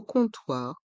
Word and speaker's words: comptoir: font le son o dans le mot comptoir le O et le M sont une voyelle nasale et font le son h le P est mué au comptoir au comptoir